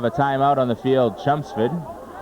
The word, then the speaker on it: Chelmsford: timeout on the field chumps food the chumps food folks not Chelmsford not Chen's with chum spit L is silent you may have guessed